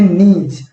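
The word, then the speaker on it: gneiss: यहाँ पे जो शुरू में वाला कैपिटल जी है, ये कैपिटल जी साइलेंट है और इसे हम पढ़ते हैं नीज, ठीक है ना, GNIES।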